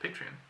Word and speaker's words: Patreon: Patreon. Patron is the real word, but Patreon is like the system. And then a patron is the... A patron is a person. Oh. Patron is a person. Patreon is the service.